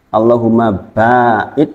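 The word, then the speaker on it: اللهم باعد: masuk Alfatihah Jan pilih Allahumma baid bacanya enggak boleh pendek ya Pak Allahumma baid pakai Alif dan enggak boleh pakai enggak boleh juga pakai tasdid allahum ba t itu artinya beda Allahumma bait itu artinya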